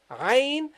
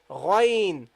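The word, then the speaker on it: غين: But the pronunciation, the first one is from the middle of the throat, as I said, Ghain, and the second one is a bit up. You say Ghain, Ghain, Gha, Gha, Ghain.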